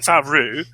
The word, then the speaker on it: Favreau: And for them to left-handedly, through the great Jean Favreau, I always give him the French pronunciation, they're going to say, actually, this is the prophecy.